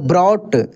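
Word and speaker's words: brought: कैसे पढ़ इसको थॉट बी आर ओ यू जी एस टी तो देखिए जी एच साइलेंट हो जाएगा क्या पढ़ेंगे ब्रॉट यानी यदि किसी भी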